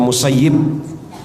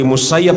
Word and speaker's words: Musayyab: musayyab Bin Hasan memang ada perbedaan di antara para ulama tentang dompet membaca musayyab atau musayyib Tapi nampaknya yang paling kuat membacanya yang benar adalah musa dari musayyab Bin Hasan nama beliau